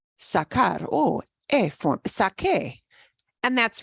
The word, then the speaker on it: saqué: So to keep that k sound, when I make the yo form here in preterito, I have to spell it differently.